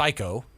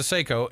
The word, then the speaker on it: Seiko: It's a Seiko. Am I pronouncing that right? No. It's a Seiko, and it's it was like $75.